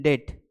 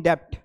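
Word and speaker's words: debt: तो जब भी आप बोलो कि वह कर्जे में, ही इज इन डेट, ही इज नॉट इन डेप्ट, डेप्ट नहीं बोलना है, इट्स डेट।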